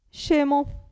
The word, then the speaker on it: scemo: Allora abbiamo cognome cognome s c come ho detto che si pronuncia sce scemo però attenzione S c'era